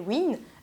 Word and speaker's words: Weenn: Sauf que Nolwenn, à la fin, s'écrit W-E-E-N. Et je me disais, ouais, non, les Américains, ils doivent prononcer ça Nolwenn. Après, je me suis dit, oh, Win, c'est pas trop mal.